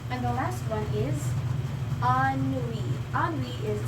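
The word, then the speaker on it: ennui: And the last one is ani. Ani is spelled E N UI but pronounced as ani is another term for boredom or being bored.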